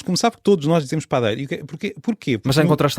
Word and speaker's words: padeiro: geral da língua portuguesa, a sílaba pá é uma sílaba átona e por isso a vogal deveria ser mais fechada. Padeiro. Agora, por que razão é que não é? Porque no início da língua isto eram duas vogais, pá, adeiro, pana, pana